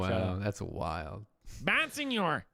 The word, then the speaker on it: Bonsignore: I mean it's pronounced Bonsignore, like Italian.